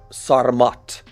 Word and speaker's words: Sarmat: Russia tested their SARMAT missile, intercontinental ballistic missile, yeah, that's how you say it.